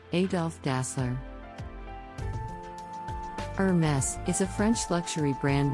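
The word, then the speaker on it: Hermès: name comes from the Founder's name Adolf dassler Hermes is a French luxury brand known for its high-end leather goods and accessories some people mispronounce this brand as Hermes but the correct pronunciation is Hermes the brand originally specialized in harnesses and saddles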